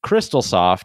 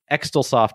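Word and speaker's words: Xtal Soft: effects and this was developed by the company crystalsoft but it's spelled xtal so we're just going to call it crystalsoft because extersoft just doesn't sound right well and then the japanese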